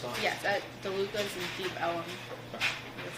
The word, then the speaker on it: Deep Ellum: Yes, at DeLuca's in Deep Ellum. Okay. That's how you pronounce it.